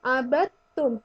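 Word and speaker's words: عَبَدتُّم: seperti itu ya terus ketika membaca abattum itu langsung ke huruf tak jadi huruf Dal nya seakan-akan tidak ada Jadi dibacanya abadtum wala Ana abidu ngimbag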